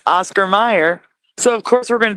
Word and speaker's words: Oscar Mayer: But the way it's pronounced makes people naturally think of Meyer.